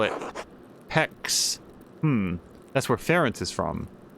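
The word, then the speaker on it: Pécs: The Hungarians call it Pex. That's where Ferenc is from. Doctor of Theology. So, I've never heard this word pronounced except during the tutorial mission at the very beginning of Neverwinter Nights 2.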